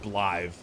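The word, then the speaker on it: Blaidd: But, like, there's the guy whose name is written B-L-A-D-D or B-L-A-I-D-D. And that's pronounced Blythe.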